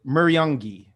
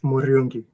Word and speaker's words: Muriungi: I said Muriungi. Close. It's Muriungi. Muriungi. Oh, I didn't roll the R.